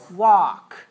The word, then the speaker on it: walk: n c once once walk walk what letter is silent in the word walk which letter is silent l right don't pronounce the l spell it with l but don't pronounce it walk right we walk